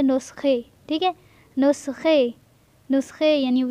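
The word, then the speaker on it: نسخه: میں پڑھیں گے نقطے۔ نسخہ تو ہم اسے پڑھیں گے نسخے، ٹھیک ہے۔ نسخے، نسخے یعنی جو دوائیں وغیرہ ڈاکٹر لکھ کے دیتا ہے پرچی پہ تو اسے کہتے ہیں نسخے۔ نان، نان مطلب روٹیاں،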